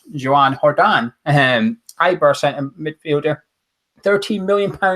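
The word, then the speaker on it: Joan Jordán: Written down, it's spelled Joe Jordan, or Gonzo will call it Joe Jordan. If you're Spanish, it's Joan Jordan.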